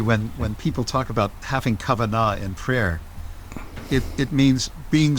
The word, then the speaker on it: kavanah: Am I pronouncing the word correctly? Kavanah?